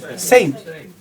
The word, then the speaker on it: Sejm: The Sejm, or how do you pronounce it? Sejm or Sejm? Sejm.